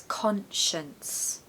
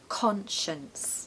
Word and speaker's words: conscience: not pronounced conscience no it's conscience conscience we really need a strong Con in the first syllable it's not awah no it has to be stressed okay so conscience the second syllable has awah okay so we want uh in the second part so conscience conscience last Saturday I came back